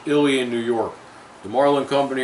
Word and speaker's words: Ilion: and purchased you know this year anyhow it's pronounced illy in New York the Marlin company originated in north